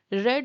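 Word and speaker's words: read: ही रेड a book yesterday.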